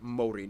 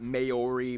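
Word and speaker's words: Māori: Korea and Japan yes by the way it's pronounced Mori not mayori Maori they use the New Zealand dollar as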